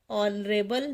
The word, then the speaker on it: honorable: Bruce is an honorable man because here H is silent.